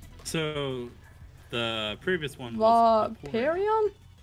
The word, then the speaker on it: Vaporeon: So, the previous one was Vaporeon? Vaporeon. Oh, it's an O. I read that as an E for some reason.